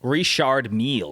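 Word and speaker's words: Richard Mille: uh Richard Mill how do you say that reshard meal and Spanish it's Mia Mia uh in in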